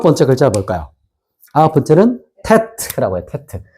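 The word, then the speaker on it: טית: 아홉 번째는 테트라고 해요.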